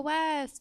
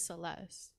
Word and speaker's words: Celeste: I know that shit's on purpose, cause she'll be like, so West, and my name's Celeste, and she'll be like, so West, you know, like a dumb bitch.